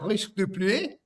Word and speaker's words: Risque de Pluie: Joel's quite good at pronunciations, aren't you, Joel? Go on, Joel. No, that's good. Yeah. Risque de Pluie.